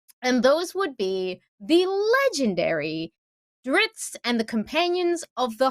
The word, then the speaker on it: Drizzt: I've always said it Drizzt with a slight T sound at the end, but I think, in the audiobooks and according to R.A. Salvatore, it is Drizzt without so much of the T.